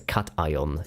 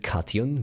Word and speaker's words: cation: I used to pronounce it kion, by the way, an onion, but then flame pointed out to me that it stems from an ion.